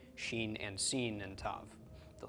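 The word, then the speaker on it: שׁ: right pronounced as SH the dot on the left pronounced as an S numerical value of Sheen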